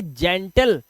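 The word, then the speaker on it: gentle: जिम इसी तरह से यहां पर जी के बाद क्या वर्ड है जी के बाद ई है तो इसे पढ़ेंगे जेंटल क्या पढ़ेंगे जेंटल पेन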